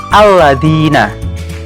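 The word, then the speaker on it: الذين: Kalian semua pasti membacanya dengan alladzina. A-nya dibaca pada lafal alladzina. Tapi ketika membaca ayat ke-7 Al-Fatihah tadi, adakah yang membaca A pada lafal alladzina seperti ketika membaca alladzina tadi? Pasti tidak ada.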